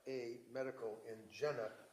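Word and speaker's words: Jena: r a medical in Jenna j e n a German yeah it's pronounced yenna yenna okay thank you and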